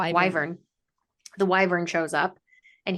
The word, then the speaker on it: wyvern: Wavern. Wyvern. Wyvern.